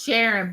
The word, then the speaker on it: Sharon: got one more giveaway my name is two syllables Sharon but when I got in trouble at home it turned to one syllable oh gosh yeah that's